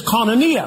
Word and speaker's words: koinonia: The word communion in the Greek is koinonia, spelled with a K.